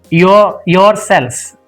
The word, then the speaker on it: yourselves: Similarly, this CLVES is pronounced cells. Just remember this word. Yourselves, yourselves.